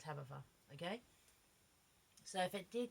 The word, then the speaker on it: Tabetha: It's Tabetha. Okay? So it could be Tabitha, but I pronounce it Tabitha.